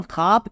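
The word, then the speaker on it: خواب: लेकिन पढ़ा ना जाए जब हम खवाब पढ़ते हैं तो वाव साइलेंट है हम इसे खवाब नहीं पढ़ सकते भले ही हम वाव को लिखेंगे लेकिन नहीं पढ़ना है इसलिए यह वाव मातूरा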